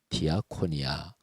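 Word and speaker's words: διακονία: 헬라 원 되요 헬라어로 말하면 디아 코리아 이렇게 발음합니다 그게 섬김 봉사 라는 뜻이에요 디아코니아 그런데 예수님께서 말씀하신 디아코니아 이 단어는 요 예수님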